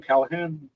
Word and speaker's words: Callahan: murder his last name so why don't you pronounce it for me Michael was that um Brian Callahan there you go Brian Kahan I don't want